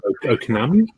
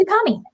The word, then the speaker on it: Ukami: Okanami? It's Ukami.